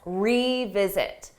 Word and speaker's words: revisit: But for pronunciation, that re is a strong sound. E. You hear that E.